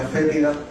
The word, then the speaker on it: fétida: Esto se pronuncia fétida porque tiene una peculiaridad: cuando esta lombriz se ve atacada, despide un olor para repeler a quien la ataca.